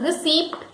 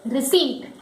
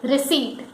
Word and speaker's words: receipt: The correct pronunciation is not receipt, it is receipt, where P is silent. It is receipt.